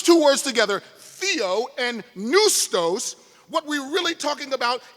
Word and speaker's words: pneustos: And neustos is the second part. Neustos with a silent P, P-N-E-U-S-T-O-S, from which we get the English